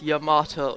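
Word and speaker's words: Yamato: kinds of things unfortunately it's your motto it's three syllables which go point out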